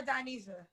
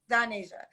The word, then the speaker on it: Donasia: Is it Donasia or Donesia? Donasia.